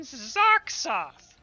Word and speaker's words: Zarksoth: I am Zarksoth, the mistress of undeath. Don't forget it Zarksoth. again. Like sauce or like soth. Sark is in like bark with a Z.